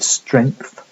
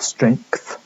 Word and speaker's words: strength: the a vowel, and one pronunciation at least of the word strength or strength, where you pronounce the k at the end of it as well.